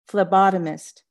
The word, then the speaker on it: phlebotomist: she liked saying it phlebotomist at first juanita thought it was spelled with an f but when she learned it was spelled with a p she straightened up a